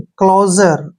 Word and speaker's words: closure: SU का उच्चारण जय करते हैं, जब भी यू से पहले S हो तो S का उच्चारण अक्सर जय होता है और RE को रे पढ़ेंगे। क्लोजर, क्लोजर, क्लोजर क्या होता है?